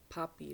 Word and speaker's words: Papi: Puppy like Pops, from Pops. Papa. It's a German version of dad. Daddy is Papi. P-A-P-I. Puppy, but pronounced just like the puppy dog.